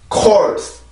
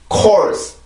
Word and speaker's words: course: 한국어로 보면, 한국어로 읽을 때는 우리가 코스, 코스, 코스 이렇게 읽는 발음이지만 영어로 보면 이름절이에요. 여기 있는 S 발음에서 소리가 길어지게 되는 거죠. 그죠? 그래서 이 단어는 그렇게 발음을 하고 이름절이니까 리듬이 하나죠.